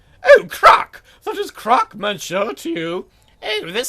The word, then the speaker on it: Croc: So it was Croc all along, not Croquet, not Croc. I was mispronouncing it. Oh, mon Dieu, people always pronounce it wrong.